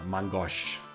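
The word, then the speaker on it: main-gauche: Once I can finally get my Mangosh, as I'm now informed is the correct way to pronounce it.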